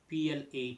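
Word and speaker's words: plat: word for dish in French is uh PL p l a t but as I said t the last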